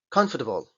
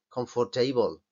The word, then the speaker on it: comfortable: nuestra vida ya habéis visto cuál es no comfortable comfortable vale pronunciación típica errónea confortable pero fijaos a no es esto aquí me